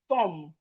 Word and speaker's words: thumb: We have thumb. Thumb, your thumb. The B in thumb is silent.